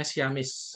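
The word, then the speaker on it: Siamese: kemudian xiaomis connection ya Ini bacanya Ciamis Yamis connection ini biasanya ada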